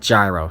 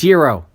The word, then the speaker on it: gyro: had a lamb gyro it's not gyro stop pronouncing it that way I go to friggin greek places and I say gyro and they look at me weird you know knowing that is damn it it's hero not gyro anyway random anger